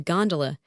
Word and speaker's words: gondola: A flat car, by the way, is known amongst the fraternity as a gondola, with the second syllable emphasized and pronounced long.